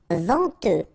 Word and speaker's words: venteux: Venteux, final X not pronounced, then EN, en, venteux.